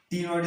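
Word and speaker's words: ctenoid: पहला क्या हमारा प्लेकोइड स्केल्स, सेकंड क्या हमारा टीनोइड स्केल, सी साइलेंट रहेगा यहाँ पे, तो प्रोनाउंस क्या करेंगे हम, टीनोइड स्केल करेंगे।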